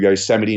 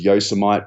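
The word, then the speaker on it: Yosemite: and go hiking through Yoseite National Park, which I actually thought was yosamite because it's spelled the same as Vegomite and Marmite.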